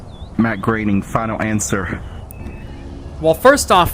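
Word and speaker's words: Matt Groening: created the cartoon series The Simpsons Charles Schultz Matt groing Walt Disney Tracy Alman I watched enough s s to know that it's B Matt graining final answer well first off thank you for correcting me on the pronunciation and second off that just got you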